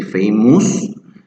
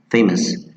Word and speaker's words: famous: Many students say famous. It's not us, the u doesn't sound, that's why I have here the schwa, like us.